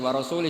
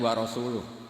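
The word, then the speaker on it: وَرَسُولُهُ: Wa rasulih juga gak ngurus Rasulnya. Kalau sama Rasul saja tidak ngurus, apalagi sama kita. Bersama Sayyidina Ali dibenarkan, yang benar bacanya itu wa rasuluh.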